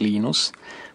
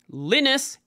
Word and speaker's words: Linus: separate interview Linus or Linus what's exactly your preferred pronunciation um when I speak Swedish it's Venus when I speak Finnish it's Linus when I speak English it's Linus and I really don't care